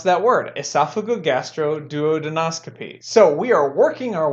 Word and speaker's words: esophagogastroduodenoscopy: Now let's add them both together and we have esophagogastroduodenoscopy. There we go. That's how you pronounce that word, esophagogastroduodenoscopy.